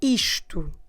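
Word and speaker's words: isto: and that word is the word ishtu is to e s t o and this word and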